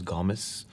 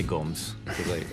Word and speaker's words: Gomes: this is ben gomes well the correct pronunciation is gomez this is ben gamez but i say gomes this he knows a